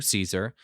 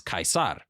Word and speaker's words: Caesar: got stabbed Julius Caesar the British would say his name the same way that Americans do Caesar some Italians would call